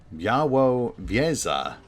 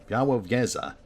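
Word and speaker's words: Białowieża: There being Białowieza, a village in Poland. Białowieza. Wow, I very much appreciate that they included a pronunciation guide. Białowieza.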